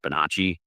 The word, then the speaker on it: Bonacci: And before you even say it, I know technically that should be pronounced Bonacci, but Paul pronounces it Bonacci, so that's how I'm going to say it. Whatever, it's his name.